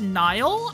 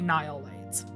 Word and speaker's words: NihilLights: It's technically pronounced Nile, I guess, because it's, you know, nihilism. I always pronounce it as Nil. Because Nils is an actual name, N-I-L-S. But I think the way you're supposed to pronounce it is Nile, so it would be NihilLights.